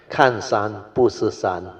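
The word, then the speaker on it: 看山不是山: Better let me pronounce. Kan san bu si san, not sun.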